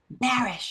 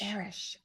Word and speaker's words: Barasch: last name, so I really do want you to tell everybody how to correctly pronounce your last name. Oh, Barasch. Barasch. Barasch.